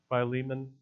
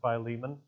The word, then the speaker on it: Philemon: It's the book of, some pronounce it Philemon. I'll go with that. It's how I was raised. Philemon.